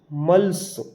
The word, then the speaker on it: muscles: यहाँ एस के बाद में सी आ रहा है, हम यहाँ पर सी का उच्चारण नहीं करेंगे, साइंस। ऐसे ये लिखा है MUSCLES, मल्स।